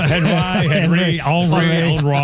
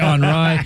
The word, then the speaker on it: Henri: Henry. It's actually Henri.